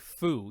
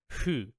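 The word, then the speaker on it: ふ: But you don't pronounce it like foo. You pronounce it like hu. Like you're like trying to blow. It's a Duolingo says like you're trying to blow out a tiny candle.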